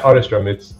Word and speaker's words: Otterstrom: I hope I pronounced your name correctly. Jason Otterstrom. Yeah, Otterstrom.